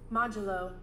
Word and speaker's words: modulo: modelo de lo oh how do i even pronounce it let's check really quick medullo modulo modulo so we're getting the modulo uh this